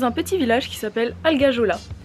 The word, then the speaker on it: Algajola: On est dans un petit village qui s'appelle Algajola, que les Corses appellent Algayol. Les Corses, ils prononcent pas la dernière lettre.